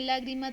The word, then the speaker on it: lágrima: una de estas palabras observamos que lágrima tiene tilde Pero entonces es una palabra aguda o esdrújula entonces pues tenemos que ir mirando Entonces si si por el contrario si esta tiene la tilde en la última en la penúltima o en la penúltima entonces aquí ustedes van a encontrar que es esta en la antepenúltima Entonces ustedes la van